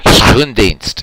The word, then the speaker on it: Schoendienst: I will say it once for you in Dutch. Schoendienst is actually how you say it in Dutch.